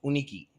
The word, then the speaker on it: UniKi: While it is spelled Yunikee, we pronounce it UniKi, right?